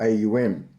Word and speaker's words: AUM: sound of om or AUM of Consciousness ium is pronounced or sung a um the a balances the